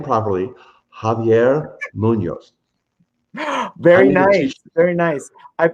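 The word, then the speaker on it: Javier Muñoz: i'll be there let's say his name properly javier munoz very nice very nice i've been tutoring mark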